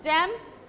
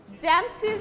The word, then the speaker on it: James's: If you add only apostrophe s, it suppose James house, it will be okay. But if you want to use s, it also will be okay, but then pronunciation will be changed. James's house, okay, it's okay. Then pronunciation will be James's house, but if you keep